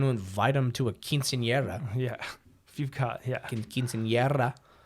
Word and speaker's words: quinceañera: Like, if someone has tuberculosis, you're not going to invite them to a quinceañera. Yeah. If you've got, Quinceañera. For those of you who speak Latin. They want to roll your R's.